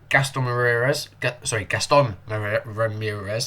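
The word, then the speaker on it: Gastón Ramírez: 51st minute, Gaston Ramirez, that's how you say it.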